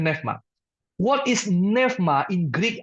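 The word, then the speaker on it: πνεῦμα: ini Bapak Ibu Saudara neevma bahasa yunaninya neevma tulisannya neoma ya bacanya neevma What is neevma in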